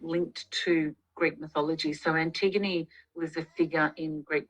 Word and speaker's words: Antigone: She's interested to know how you, and I would like you to pronounce her name for me, how you chose Detective Pollard's first name. Antigone, yeah. Antigone, okay.